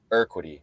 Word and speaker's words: Urquidy: So don't pronounce the U. Quiddy? Oh, you're Urquidy.